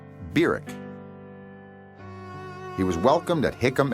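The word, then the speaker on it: Barack: of 1959 was barrick hussein obama that's how he pronounced his name byric he was welcomed at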